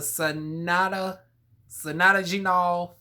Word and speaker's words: Pycnogenol: I want to say the P is silent. So the Sonata Genol 5%.